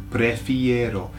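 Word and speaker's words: prefiero: Prefero. So, what you have to remember is that it's got an arrow on the end. Okay? for those who know aero chocolate right prefero I prefer okay uh so prefer is to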